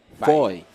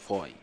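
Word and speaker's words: Fahid: got the name was Fai. Yes, Mr. Fidel Fai. Foy. He says that it's a Latin name. Spelled F-A-H-I-D, but it's pronounced Foy.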